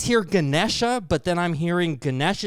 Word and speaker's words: Ganesh: S H and if you club that N and D together so it becomes Ganesh. Ah okay.